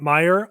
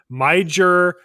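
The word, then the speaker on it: Meijer: I think they have them in Minnesota and I have gotten in trouble before because I have pronounced it every way but meer. I'll say major major.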